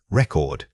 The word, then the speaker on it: record: Many common words shift stress depending on if they are being used as a noun or a verb. By focusing on this single change in stress, you can make yourself sound much more native and proficient. The word is record. Say it again. Record. Notice how shifting the emphasis completely changes the word's part of speech.